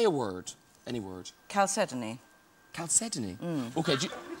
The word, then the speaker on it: chalcedony: pronouncing it correctly okay so you say it there and i'll say it again chalcedony okay let's see how they say it calcedoni that's very good oh it is i'm pronouncing it correctly okay you are now